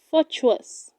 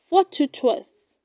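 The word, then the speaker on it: fortuitous: do not say fortuous it is pronounced fought to trust for two trusts how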